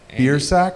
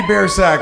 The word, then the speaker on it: Biersack: It's got to be like it's phonetically like it's Biersack. It's the worst possible way to pronounce it. I went to Catholic school and they didn't want to pronounce it correctly, so they told me my name was Biersack growing up.